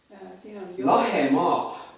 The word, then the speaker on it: Lahemaa: Lahemaa. Lahemaa. Is that Lahima? Lahemaa. Lahima is almost.